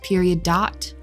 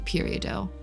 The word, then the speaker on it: peridot: field which would be periodo i think it's pronounced that way because it's a french word i'm pretty sure but